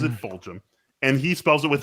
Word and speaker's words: Fulgham: You spelled Fulgham's name wrong, dude.